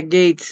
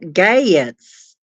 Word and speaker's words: Gaetz: yeah it's spelled g it's kind of like a southern draw spelling of gates Gat it's mat gats may it may it